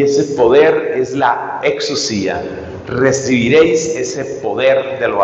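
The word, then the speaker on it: ἐξουσία: aparece en los evangelios, y esa palabra se pronuncia exousia, exousia.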